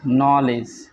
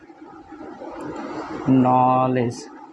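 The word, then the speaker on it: knowledge: আসলে মানে ঠিক না কে এন থাকলে তার উচ্চারণ হবে নো এক্ষেত্রে কে অনুচ্চারিত থাকে কে টা আসলে উচ্চারিত হবে না কে অনুচারিত থাকে যেমন আমি যদি বলি কে উচ্চারিত হবে না নলেজ কে এন ও কে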